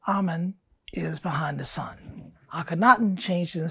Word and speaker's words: Akhenaten: All right, I wanted to jump back because we didn't fully finish with how do I pronounce my bridge's name again? Akhenaten, mm-hmm.